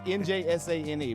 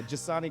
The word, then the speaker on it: Njsane: So when we're saying his first name, Njsane, there's an N in front of that. It is. That is it is silent.